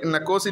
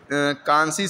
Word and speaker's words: Nkosi: Nkosi Sikelel sorry नकोसी नहीं कहेंगे, इसको कांसी सिकेलेल कहते हैं। कांसी एन जो है साइलेंट रहता है और इसका प्रोनाउंसिएशन थोड़ा डिफरेंट है, साउथ अफ्रीकन लैंग्वेज का वर्ड है ना।